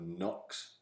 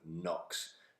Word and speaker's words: NOx: it described by somebody, when they hear somebody pronounce the word NOx, they're going to put K-N-O-C-K-S in because that's how you spell NOx.